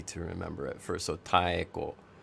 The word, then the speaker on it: Taeko: So Taeko, just remember to pronounce all of the vowel sounds separately, and then you're half the way there.